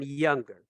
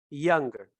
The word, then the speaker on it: younger: Algo raro en el inglés es que esta G no se pronuncia cuando decimos young, o sea, joven. Young es joven. Pero cuando decimos younger, más joven, esta G sí se pronuncia. Si se dice younger, younger. No te preocupes demasiado por